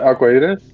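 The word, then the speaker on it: Arcoíris: Michael, you pronounce it. Which was it? Was it Arcoiris? Yes, that one.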